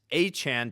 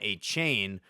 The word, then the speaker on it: Achane: People want to pronounce Devon Achan, Devon Achane, but it's Achan, as well as the formerly Etienne is Travis Achan now.